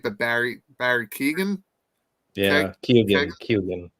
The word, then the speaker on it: Keoghan: to say his last name right, but Barry Keoghan. Yeah, Keoghan.